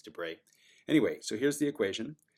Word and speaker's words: de Broglie: of different ways spelled de Broglie but it's French and so I believe it's du Brey some people say debroglie as if it's a time but it's I think it's du Brey anyway so here's the